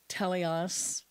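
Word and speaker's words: teleios: in the Greek but it's t-e-l-e-i-o-s teleos and that's perfect okay and I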